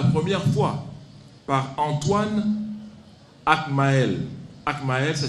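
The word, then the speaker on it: Agtmael: Akmael, ça s'écrit A-G-T-M-A-E-L.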